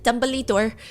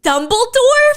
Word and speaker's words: Dumbledore: what the and she goes Dumbly Door and we said Dumbledore from Harry Potter and she's like no it's Dumbly Door and she's like look at the spelling Dumblyore even in English it's pronounced Dumblyore and I'm like this